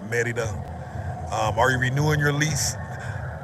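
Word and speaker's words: Mérida: Merida is how we would say it in the States. Merida, but in Mexico pronounced Merida.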